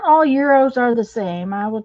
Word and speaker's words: gyro: tell you julie that most people a lot of people pronounce it gyro it's it's supposed to be euro but if somebody said